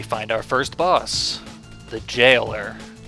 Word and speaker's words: Jailer: We find our first boss, the Jailer. Pronounced with a soft G, as in Job.